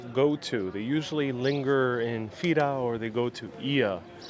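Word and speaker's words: Fira: the most for this trip the city of fida i'm pronouncing f-i-r-a that's how you might find it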